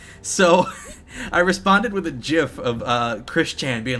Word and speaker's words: GIF: I don't say GIF. I say GIF with a hard G.